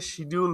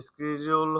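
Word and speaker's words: schedule: যে আমরা যে এটাকে শিডিউল বলি, অরিজিনাল উচ্চারণ কি হবে বলেন তো? আমরা হচ্ছে ইউনাইটেড কিংডমে এরা হচ্ছে শিডিউল বলে, আর হচ্ছে স্কেডিউল হচ্ছে বলে হচ্ছে আপনার ইউএসএ।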